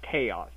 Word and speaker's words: Xaos: in in Chinese in in some dialects of Chinese the X can be pronounced as a CH but even then it's